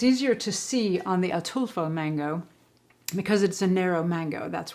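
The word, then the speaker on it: Ataulfo: There's another variety which is delicious called and I had to look up how to pronounce this, but it's atulfo, the atulfo mango, also known as honey mango, which is really, really good.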